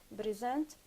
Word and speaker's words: present: In the word present, when used as a verb, the stress falls on the second syllable. If it is a Yeah, verb. it's a verb, but the same word, it's a noun. When it's a noun, we stress, of course, the first syllable, Mhm.